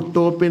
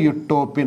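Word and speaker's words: utopian: Okay, ഇനി ശ്രദ്ധിക്കേണ്ടത് മലയാളത്തിൽ നമ്മൾ എഴുതുമ്പോൾ ഉട്ടോപ്യൻ എന്ന് എഴുതാം, ഉട്ടോപ്യയിലെ രാജാവ് അല്ലെ ഉട്ടോപ്യൻ എന്ന് എഴുതാവൂ. ഇംഗ്ലീഷിൽ വായിക്കുമ്പോൾ യുട്ടോപ്യൻ എന്ന് വായിക്കുക.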